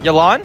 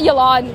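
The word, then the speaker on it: Yelan: you know chongyun's Auntie yilon not yolan whoa not your lot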